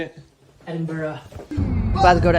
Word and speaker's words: Edinburgh: to Edinburgh is that how you say it Edinburgh about to go to Edinboro pretty straightforward hop on the M8 takes about